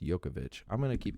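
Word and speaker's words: Jovovich: haven't seen it mili yokovich see it's j-o-v-o i c h so it makes me sound like i should say yovovich but i'm pretty sure i've heard it pronounced yokovich i'm going to keep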